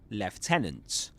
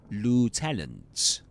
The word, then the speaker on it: lieutenant: British English, lieutenant. American English, lieutenant.